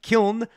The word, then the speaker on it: Kiln: wrong and yeah okay it said kyon so kiln the next iteration of the ethereum merch testnet